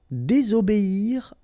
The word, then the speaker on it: désobéir: Désobéir à. Okay? Here you've got to pronounce this I.